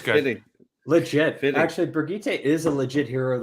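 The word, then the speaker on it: Birgitte: Where's Bridget going? Brigitte. When I say Bridget, I'm sorry.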